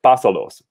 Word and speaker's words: pásalos: to last syllable, but we say no, we actually want to keep it at the first syllable of the verb, like pásalos, pásamelos, or háblame.